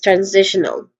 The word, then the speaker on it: transitional: Then T I O N. T I O N. Shun. Again shun. And lastly we have O. O with awah sound. So all in all this is transitional.